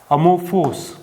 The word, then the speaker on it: amorphous: and the greek word that we have is amorphous ammo force that's how we pronounce this most of the words that we